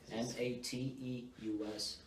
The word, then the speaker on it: Mateus: Mateus. Okay. So it's kind of like... I gotcha. It's Matthew in Portuguese, so...